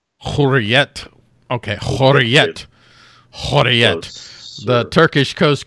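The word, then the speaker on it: Hürriyet: How is it pronounced? Hurriyet.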